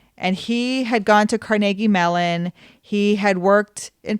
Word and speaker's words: Carnegie: saying it that way it's Carnegie mail and I've heard it that way my entire life pittsburghers say Carnegie we put in the extra syllable um and so Russo